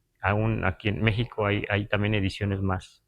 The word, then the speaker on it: México: esta x pronunciada así la x ese valor que le damos a la X en la escritura naar en español a veces es J verdad porque decimos México pero a veces sí